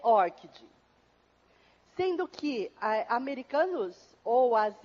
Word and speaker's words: ORCID: Mas, segundo a Lilian Pessoa, que é a representante do ORCID na América, para a América Latina, a pronúncia correta é ORCID.